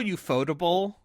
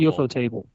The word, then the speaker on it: Ufotable: Is that how you say it? Ufotable? I thought it was a UFO table. No, it's Ufotable. I'm sorry.